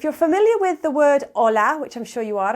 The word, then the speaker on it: hola: there's an H but we never pronounce the h when it's at the beginning of a word in espanol it's always silent so the the letter